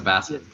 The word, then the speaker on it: basswood: Basswood is what I've been told it is. I think it's bass. Yeah. Like the fish, apparently.